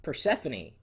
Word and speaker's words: Persephone: Persephone. I think I like that one. Persephone! It is. Persephone. Because see, it looks like Persephone, but it's actually, you pronounce it Persephone.